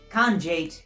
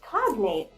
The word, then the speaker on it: cognate: And for those at home, it's actually pronounced cognate.